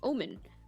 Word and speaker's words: almond: talking about how i mispronounce the word almond apparently it's pronounced omen but i like to call almond i like to call it almond because it's just that's just how my mouth works i guess uh what's